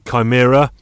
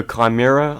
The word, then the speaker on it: Chimera: reasons for a Cobalt Chimera or Shimmer I don't know what your preferred pronunciation is there uh I would go Chimera I don't know but that's only because of mission impossible to yeah we'll say